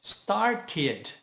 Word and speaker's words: started: Se a palavra original terminar com a letra D ou T, por exemplo, start or add, acrescentamos o ed e, neste caso, nós precisamos pronunciar o I do ed, que vai ficar o som de id.